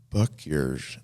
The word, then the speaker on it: Bucyrus: Bucyrus, Ohio. B. Bucyrus. B-U-C. Buck yours. And Bucyrus. Exactly.